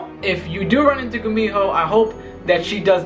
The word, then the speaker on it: Gumiho: Yo, I had to redo the Gumiho part like 3 times, okay? Because I pronounced it like 10 different ways. I don't know how, because this was my favorite one. It was ridiculous. I called it a Gushimo. What else did I call it?